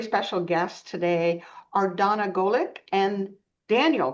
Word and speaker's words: Golik: Um, Tracy, our very special guests today are Donna Goolick and Daniel Goolick. Did I pronounce that right, guys?